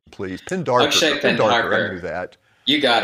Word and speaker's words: Pendharkar: pronounce the last name, please. Pendharkar.